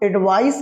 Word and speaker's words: advice: अब ध्यान से समझा, प्रोनाउंसिएशन में भी डिफरेंस है, इसको हम आप एडवाइस कहते हैं, इसको एडवाइज कहते हैं।